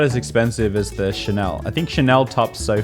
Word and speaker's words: Chanel: no it's not gucky chanel it's not channel louis vuitton it's not